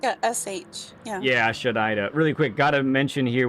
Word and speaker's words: xerraire: And if anybody's curious how to pronounce it, it goes Shadaida.